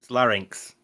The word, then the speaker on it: larynx: I swear LX I I always thought it was a lir ni l a r NYX L it's LX larynx the Y is before the N I don't know about